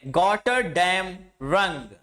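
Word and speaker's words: Götterdämmerung: गॉटरडैम रंग, राइट, इसकी स्पेलिंग आप लोग करेक्ट कर लीजिएगा।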